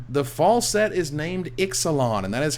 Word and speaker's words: Ixalan: The fall set is named Ixalan, and that is how you pronounce it, which I got that guaranteed and got that confirmed.